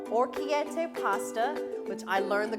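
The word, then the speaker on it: orecchiette: right here we go everybody this is called orchiette pasta which i learned the correct pronunciation of it with sausage it calls for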